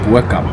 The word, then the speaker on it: Bo-Kaap: the beautiful colors of Bup. Now the name Bup itself means above the cape or up the cape. So B meaning up meaning cape. Local people would normally pronounce it as bu because it's found right